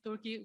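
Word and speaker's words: Türkiye: uh websites turkey uh turkey has tried to is now trying to Rebrand itself so uh turkey is the English name turkey is how uh the the countries pronounced in Turkish and now or since a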